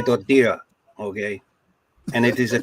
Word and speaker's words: tortilla: okay so I say tortilla right how is it how is it actually pronounced Portilla or tortilla yeah anytime you see two L's in Spanish like a y yeah yeah I mean